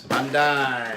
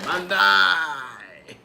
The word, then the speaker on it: Bandai: Am I pronouncing that right? Let me see here. Yes, Bandai. Bandai.